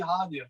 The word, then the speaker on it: Hanya: It's actually, okay. People don't know that one. Yeah. It's actually Hanya. It's what that actually is